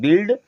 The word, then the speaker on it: build: इस प्रकार से यहाँ देखें, यू के बाद में आई आ रहा है तो आई हमारा यू हमारा साइलेंट हो जाएगा। अब BUILD को पढ़ते हैं बिल्ड, इसमें जुड़ गया ING तो क्या बन गया?